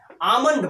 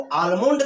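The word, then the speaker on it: almond: में क्या कहते हैं आल्मंड बोलते हैं इसमें या साइलेंट है और जो बच्चा इसको आल्मंड कहता है उसको आप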